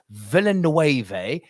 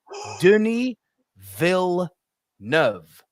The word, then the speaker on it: Villeneuve: prisoners it's not Dennis Villanueva it's not Dennis vilnuvi it's not Dooney will know it's dooneyville nerve it's really not difficult